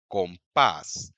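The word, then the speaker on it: compás: तूद रेो अमोर कातार second line देखिए यह वो वर्ड्स हैं जो इस रूल को डिफाई करते हैं। कफ तंबियन कंपास अब यह वर्ड बॉल में एंड होते हैं। जैसे कि ए में या फिर एन या एस में एंड होते हैं। तो एज पर रूल इनका जो स्ट्रेस है वह पेनल्टीमेट से लेवल पर होना चाहिए। लेकिन नहीं जब कोई नेटिव स्पीकर इन वर्ड्स को बोलेगा तो वह ऐसे ही बोलेगा।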